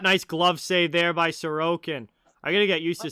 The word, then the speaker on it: Sorokin: Oh, most Russian names that I've heard put the emphasis on the middle syllable. Sorokin.